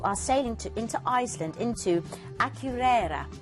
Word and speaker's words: Akureyri: And then on day 6, you are sailing into Iceland, into Akureyri. I had to look up the pronunciation of that earlier, but I promise that's how you say it.